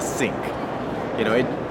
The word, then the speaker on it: SYINC: know you can just Google s y i n c pronounced as sync you know it it's